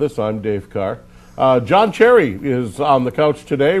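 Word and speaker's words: Cseri: Now, if people were watching the intro, they saw your last name, C-S-E-R-I, pronounced Cherry.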